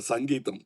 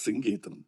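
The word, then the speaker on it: Singeetham: For once and all, in Kodambagam, there was always a confusion how to pronounce his name. In Tamil Nadu, he used to get very upset because say, Mr. Sangeetham. No, it is Sing Geetham, please. But after 40 years, you cleared it. Now nobody can mispronounce. Nobody will call him Sangeetham. Now he is back to his original name, Sing Geetham.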